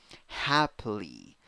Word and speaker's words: happily: A in the first syllable, which is the stressed syllable. A, second syllable, schwa, third syllable, E, E with a hat, E, smile. Happily, happily.